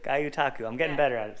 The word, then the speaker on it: gyotaku: GYOTAKU. GYOTAKU.